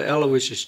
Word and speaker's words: Alawishus: Well, if the folks keep an eye out for Aloysius, now it sounds the same, you say it like the saint, but it ain't spelt